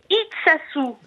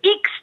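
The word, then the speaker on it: Itxassou: vous avez dit comme ça, non, je prononce mal, c'est Iksassoar. Oui, oui. Alors, les habitants de Iksassou, et non pas de Ixtassou, tassou, comme vous disiez.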